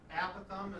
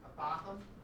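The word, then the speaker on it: apothem: Apithum is the way I normally pronounce it. Apithum. I've also heard it apothum. I honestly don't know which is. Well, actually, I think we looked it up and they said either is acceptable.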